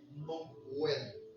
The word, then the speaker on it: Noël: Le mot Noël quand tu vas prendre le mot Noël il y a deux syllabes dedans. No dira- L. Noël.